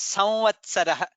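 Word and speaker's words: संवत्सरः: It is a slight in the nasal. We pronounce it samvats. We Oh. don't say samvatsarah. We don't say full letter of Okay, ma.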